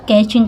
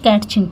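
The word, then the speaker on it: catching: तो सी एच के पहले टी आया हो तो यहाँ पे कैचिंग पढ़ा जाता है, ना कि कैटचिंग, ठीक है।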